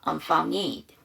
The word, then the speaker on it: unfounded: 근데 D 사운드 앞이 N 사운드고요. N 사운드 앞이 모음이고 D 사운드 뒤에가 모음이네. 그러면 위치상 N이 강하고 D가 약하죠. D 발음을 안 해. unfounded가 되죠.